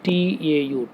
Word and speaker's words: tau: by the symbol tau how we have to pronounce it tau tau okay right so tau